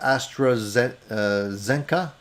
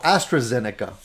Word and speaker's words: AstraZeneca: from toronto i just received my first jab astrazet i think that's how you pronounce it i am fine no issues none of this bs the eu is saying okay so oh astrazeneca sorry i didn't know the astrazeneca yeah a